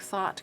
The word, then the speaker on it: thought: memorize a thought now this is o-u-g-h like thought Caught no caught is it a isn't it but anyway the ough the GH is silent school this is a